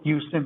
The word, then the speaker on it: Houston: So like if you were a victim and lived, you know, just like I said, south of Houston Street, it's spelled Houston, but we say Houston Street, you're eligible.